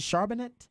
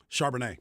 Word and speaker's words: Charbonnet: I always mispronounce his name. Is it Charbonnet? Charbonnet.